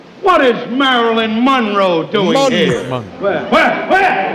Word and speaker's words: Monroe: it's always been pronounced Monroe Monroe Marilyn Monroe emphasis on the second syllable but maybe I'm wrong